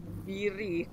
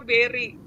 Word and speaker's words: Berry: tadi namanya salah ya aku bilangnya biri bacanya Berry berryberry dong tokohnya afrin